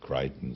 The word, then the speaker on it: Michael Crichton: Ça se prononce Crichton, ça s'écrit Crichton.